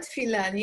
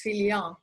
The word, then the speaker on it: Filian: It's not Filani, it's Filian. Filian.